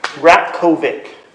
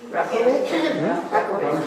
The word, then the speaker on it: Ratkovic: Ratkovic. Dr. Rat? Ratkovic, so silent T. Rat, say that again? Ratkovic. Rat, R-A-T? Ratkovic, but it's silent T though. R-O-K-O-V-I-C. Ratkovic. On the flyer right there. K-O-V-I-C. Yep. Rakovic?